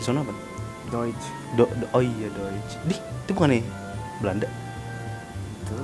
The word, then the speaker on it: Deutsch: Oh iya Deutsch. Itu bukan nih Belanda. Itu. So tau. Jerman Deutsch anjing. Yang DEUTCH. Heeh.